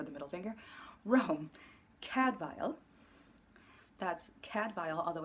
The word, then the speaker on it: Cadfael: That's Cadfael, although it's spelled C-A-D-F-A-E-L. The Welsh will probably appreciate the fact that I'm not pronouncing it the way they do in the show, which is wrong. It's Cadfael, spelled Cadfael.